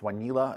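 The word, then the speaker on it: Wanelo: a consumer product um it's basically a it's pronounced vanila it's um comes from W need love and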